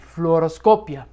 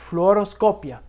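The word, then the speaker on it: fluoroscopía: let's start with fluoroscopy floros Scopia it's a tough word to say floros Scopia every letter is pronounced but flop okay so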